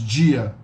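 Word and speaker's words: dia: a basic so uh a word like Tipo pronounced IPO a type the word for Day in Portuguese is Gia Gia Gia oturgia another day Chicago so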